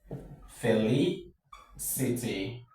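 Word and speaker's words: felicity: From the end of the word the third syllable is what takes the stress.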